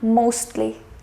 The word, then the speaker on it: mostly: For example, we have the word lastly. So you'll say that I did pronounce the T here, lastly, justly and mostly.